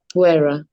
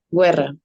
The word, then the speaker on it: guerra: ¿Cómo pronunciarían esta palabra? Guerra. Guerra.